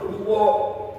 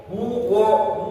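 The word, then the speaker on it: هُوَ: Jadi bacanya bukan qul huo hu wo. Huwo bukan huo ya, tapi wa qul huwall wall.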